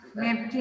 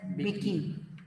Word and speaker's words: Mbeki: Thabo Thabo Mbeki. How Mepki nahi, that's Vicky. M is silent.